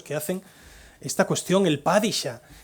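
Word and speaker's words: Padishah: El Padisha tenía una alumna turca en Viena que cuando hablaba de Dune insistía en señalarme que pronuncio mal padisha porque el padisha, recordad, el pad shadam cu es el título del emperador otomano. La traducción al castellano de Padisha, al fin he conseguido decirlo bien, es sultán.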